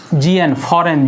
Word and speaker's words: foreign: FOREIGN, फॉरेन, जी silent है इसमें, ठीक है।